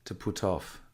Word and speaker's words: put off: And the pronunciation, because it has off in it, is quite, it's quite linked. It's to put off, okay.